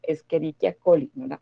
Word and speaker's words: Escherichia coli: tenga una serie una h la utilizamos lo pronunciamos como si fuera una k la escherichia coli escherichia colli cuando vean la pena h como